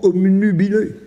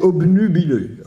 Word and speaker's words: obnubilé: et que par conséquent on entend aussi souvent omnub c'est c'est tant c'est obnubilé donc une fois qu'on